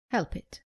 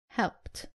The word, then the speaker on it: helped: Common mistake, saying help it. It is helped.